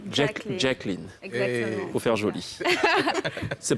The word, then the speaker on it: Jacqueline: Avec la bonne prononciation. Jacqueline.